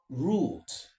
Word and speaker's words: route: spellings and pronunciations derive so talking about standard standard pronunciation root root is actually the standard pronunciation however both are standard pronunciation because but for consistency